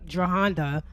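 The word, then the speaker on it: Jerhonda: the alleged abuse took place in 2010 when Jahanda, that's how you say her name, Jahanda was actually like 15 years old at the time.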